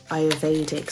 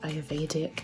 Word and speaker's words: Ayurvedic: Essential oils is quite good for you to get into if you're into the Ayurvedic side of life. I think I said it right, Ayurvedic.